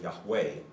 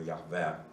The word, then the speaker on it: Yahweh: And so the letter J in German is pronounced Yot. So it sounds like a nice Y.